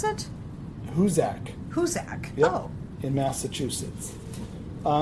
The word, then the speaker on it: Hoosac: of Massachusetts um well how how do you pronounce it hak hak oh in Massachusetts uh and it's about